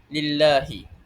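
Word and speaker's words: لِلَّهِ: wajib dibaca nipis tarkib sekiranya huruf sebelum lafzul jalalah berbaris kasrah dan contoh a untuk lam tarkib ini terdapat di dalam surah al-Kahfi ayat satu dan du contohnya seperti lillahi kerana jika sebelumnya a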